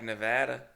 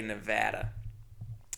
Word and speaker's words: Nevada: It's spelled like Nevada. It's not Nevada, by the way. The state, you don't say Nevada. They get mad. You gotta say Nevada. But this city, Nevada.